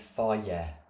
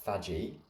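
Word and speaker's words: FAGE: So what I think you need to understand here is on yogurt Greek yogurt the best brand out there is fier not not pronounced faji fier is unbelievable per 100 grams I think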